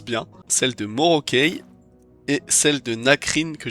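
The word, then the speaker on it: Morokei: Les capes de Evn Norac et cette fois-ci, je le prononce bien, celle de Morokey et celle de Nakrine que j'ai sur moi.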